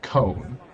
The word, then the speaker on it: C1: But like when I pronounce it, it's pronounced cone, because Wait, so what is your handle? so it's and then the digit 1. But I Like pronounce that it. last part of it is cone? Yeah, so the last part is cone because it's C and then 1 is actually cone.